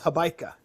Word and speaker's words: Hobaica: it rhymes with Oh, Habaika. gotcha. Yeah, I do say. Um, I guess like when I spell it out phonetically, I write out the word bike because it's just easier for people to pronounce.